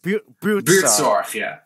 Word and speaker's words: Buurtzorg: Buurtzorg, The G is very important.